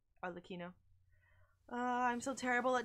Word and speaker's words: Arlecchino: I think Arlecchino is how it's pronounced. I think cappuccino sounds better. But I think you're right with the Arlecchino. Arlecchino.